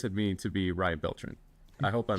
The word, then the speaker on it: Beltran: Your name is Ryan Beltr, but but what does it mean to be Ryan Beltrin? I hope I'm pronouncing it right. Sure. Yeah. Yeah. Well, it's Ryan Beltran, but it's, you know, like, uh, however, um, uh, yeah.